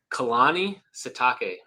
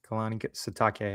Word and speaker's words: Kalani Sitake: And how do you pronounce his name again? I don't want to say it wrong. Kalani Sitake. Kalani Sitake.